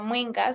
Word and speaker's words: Mwinga: My name is Mwinga. So you actually did pronounce the surname correctly.